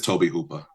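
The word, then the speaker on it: Tobe Hooper: How would you pronounce it, Frank? It it is Toby Hooper.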